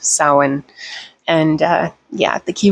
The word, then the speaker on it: Samhain: i said samhain earlier it's apparently it is pronounced samhain and uh yeah the key word is death